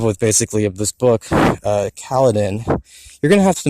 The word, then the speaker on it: Kaladin: So you're going to find out you're wrong. It's not pronounced Kaladin. It's pronounced Kaladin.